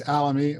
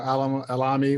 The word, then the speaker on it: Alami: me you're fine honestly it's alamy or Alami whatever way I was gonna go